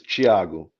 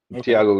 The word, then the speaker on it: Thiago: name yeah well the the Brazilian way to pronounce is Chiago Chiago okayo is fine Thiago is fine so anyway